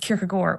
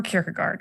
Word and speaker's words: Kierkegaard: and then to decide whether it's pronounced kierkegore or kierkegaard because that made me